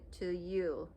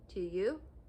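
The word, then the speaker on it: tilleul: color is called to to you t-i-l-l-e-u-l to you i think it's how you should pronounce it um but yeah also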